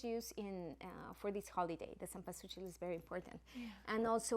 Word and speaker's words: cempasúchil: And like, the main flower that we use is the marigold, that in Spanish is called cempasúchil. That I said, Misty, that she has to pronounce it.